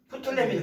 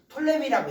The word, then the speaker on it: 프톨레미: 여기가 프톨레미를 그냥 톨레미라고 얘기해도 돼요. 숫자를 원래 발음을 안 해요. 톨레미라고 좀 하시면 되겠습니다. 톨레미나 프톨레미나 똑같은 말이에요.